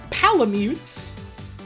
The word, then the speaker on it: Palamute: uh and they're called palamutes it's like Malamute but pal and now you understand